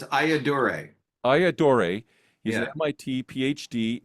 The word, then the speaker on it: Ayyadurai: so explain your last name how do you pronounce that so it's aaor aaor he's an MIT PhD inventor of the